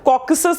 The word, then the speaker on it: Caucasus: कॉकसस इज the right pronunciation of this tongue to.